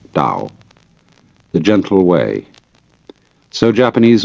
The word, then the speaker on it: Tao: to a Chinese word Dao you know that's spelled Tao I don't know why because it's usually pronounced Dao and the Dao means